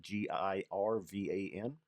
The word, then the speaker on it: Girvan: a grain spirit from, I think it's Girvan is how it's pronounced, Girvan.